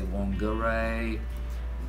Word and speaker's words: Whangarei: array some people say Whangarei slowly but surely the Maori pronounced WH they pronounce it well like not quite an F it's got like a